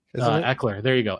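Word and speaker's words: Ekeler: backs Austin Eiler eer I forget how it's pronounced Eckler there you go Eckler thank you yeah um he's requested a trade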